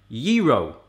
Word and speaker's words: gyro: Gyro would apply to a single sandwich, as in I want a gyro, while gyros would be the correct pronunciation if you were to say I love gyros.